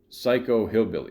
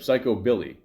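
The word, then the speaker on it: psychobilly: The box masters describe their music as uh psycho hillbilly. Is that how you say it? Psycho Oh, or no, sorry. Psycho Billy. There you go.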